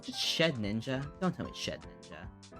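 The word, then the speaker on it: Shedinja: ninja don't tell me shed ninja it's basically shed ninja when you think about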